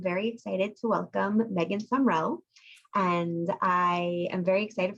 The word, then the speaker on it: Sumrell: want to ask you your last name is pronounced sumrell yep okay so do you